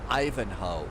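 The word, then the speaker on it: Ivanhoe: It's It's supposed to be pronounced Ivanho.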